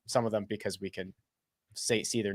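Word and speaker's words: Cairns: towards uh The Reef we're going into uh cans yeah great barer very different than the way it's pronounced uh but that's we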